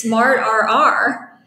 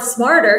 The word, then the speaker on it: Smartrr: name because half half the people think it's smart RR so and and I grew up I mean